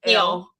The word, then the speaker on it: Elle: I believe they pronounce it just Elle. Yeah, with L.